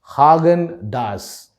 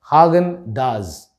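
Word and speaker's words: Häagen-Dazs: that were on display this brand name should be pronounced as haagen-dazs hagen does the ending of the das starts with a z and then lands on an s it's a very subtle difference but you can still try it does hagen does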